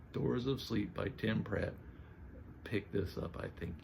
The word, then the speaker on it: Tim Pratt: it was outstanding the doors of sleep by Tim prant pronounced his name wrong doors of sleep by Tim Pratt pick this up I think you are going